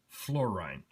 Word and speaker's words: Florijn: It is actually spelled F L O R I J N but is pronounced Florine.